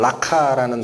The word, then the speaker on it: 라가: 이 라가가 발음 나는 대로 읽으면 라카라는 단어랍니다.